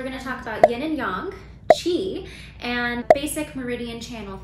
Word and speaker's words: yang: So the first component of Chinese medicine that I wanted to talk about was yin and yang. And yes, it is pronounced yang. Not yang.